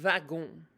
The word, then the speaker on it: wagon: And if you're talking about the car, they call it le wagon, like wagon, but they pronounce it like with a V, le wagon.